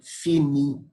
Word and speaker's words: finit: So this will be pronounced as je finis, tu finis, il, elle finit. That S, S, and T will be silent. In other words, the final S and T are silent, as I told you.